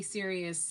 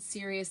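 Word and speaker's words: Ssirius: man um who and it's spelled serious like serious radio just to let you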